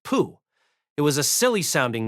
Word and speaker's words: Po: The man's name was spelled po but pronounced pooh.